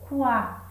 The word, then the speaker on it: quadro: Gente, no quadro você pronuncia o quá. Então reparem que o U ele é pronunciado.